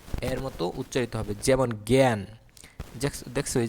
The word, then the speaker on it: জ্ঞান: কিন্তু আ যখন ইয় জয় এর সঙ্গে থাকবে, তখন এর উচ্চারণ স্বরে আর উচ্চারণ কি এর মতো হবে? এর মতো হবে, এ। এর মতো উচ্চারিত হবে। যেমন জ্ঞান, দেখছো এই যে জয়জফলা গয়জফলা আকার ন জ্ঞান, এই যে এর মতো উচ্চারিত হয়েছে জ্ঞান।